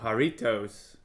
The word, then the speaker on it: Jarritos: um in the video so haritos is the proper way to say it right and it stands